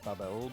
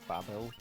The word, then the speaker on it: Babel: I'm pretty sure that you're supposed to pronounce it Babel, but like Babel. Like that tower from like the Bible or whatever.